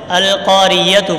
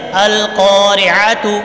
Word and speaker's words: القارعة: یہ سارے بچوں نے ابھی جو پڑھا ہے وہ یتو پڑھا ہے، القاریتو پڑھتے ہیں، تو یہ غلط ہے. القارعة عتو، عین کی آواز صحیح نکالنی ہے ورنہ یہ آیت غلط ہو جائے گی.